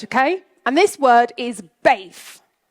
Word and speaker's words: BAYF: And this word is BAYF. It's spelled B-A-Y-F. Try it.